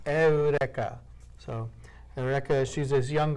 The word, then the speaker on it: Eureka: Erica 7 high evolution Erica is spelled like Eureka EU are e ka was pronounced Erica so reckless she's this